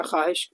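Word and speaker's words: خواہش: यानी इसमें जो है ना ये इसमें अलिफ जो साइलेंट रहेगा, ख्वाहिश, इसको इस तरह से पढ़ेंगे हम लोग।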